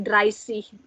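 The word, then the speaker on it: dreißig: Yang beda cuma 30 ya, 30 pakainya SC, jadi dry sea. Dibacanya S, enggak C, tapi dry sea.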